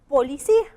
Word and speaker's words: policía: Tenemos la palabra policía y esta lleva acento en la primera O, en la I, en la segunda I o en la última I.